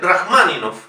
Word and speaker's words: Rachmaninov: Sergei Rachmaninov. Aquí me dirán ustedes, bueno, si la O no es una sílaba tónica, se debería pronunciar como una A, efectivamente, pero se dice Rachmaninov, siendo una palabra esdrújula.